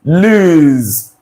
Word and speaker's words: lose: I pronounce these options this word is lose lose lose lose so this s you're saying there that letter s the sound is the Z the z sound the z sound right Z as a letter z now follow along as